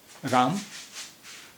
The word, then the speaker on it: राम: राम में माँ की आवाज़ जो है वो हलंत की आवाज़ आ रही है, पूरे माँ की आवाज़ नहीं आ रही। पूरे माँ की आवाज़ होती तो इसका उच्चारण या तलफ़ुज़ इसका होता है रामा। राम जो हम बोल रहे हैं वो, उसमें माँ हलंत वाला है। माँ हलंत वाला है। अब ये हुआ राम।